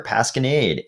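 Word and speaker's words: pasquinade: that mean so you might google this word pascanade it's telling me it's pronounced with a with a hard a there pascanade and the definition is a satire or lampoon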